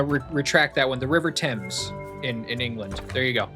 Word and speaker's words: Thames: Thames is how you say it. I'm going to take the British guy's word for it.